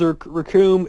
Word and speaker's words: Raccoon: Raccoon was actually uh uh talking with Goku was like, "My name is Rakum." It rhymes with Doom and and everything else rhymes.